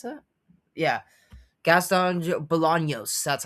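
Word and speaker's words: Gastón Bolaños: Uh, Jang Jong Lee versus uh, Gaston Bolans and is how you pronounce that? Yeah, Gaston Bolognos.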